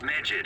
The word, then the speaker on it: Medjed: The international hacktivist group Medjed has released a statement to the Phantom Thieves. Well, that's how you pronounce it. Medjed. I thought it was Medjed, not like... It almost sounds like the word midget.